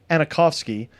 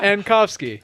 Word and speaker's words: Ankofski: This week on Crank Revolution, we have Anakovsky here to You talk. added another A. Ankovsky.